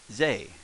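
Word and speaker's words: ぜ: all right becomes say becomes zay as in zany sure or zane billy zane zany there you are so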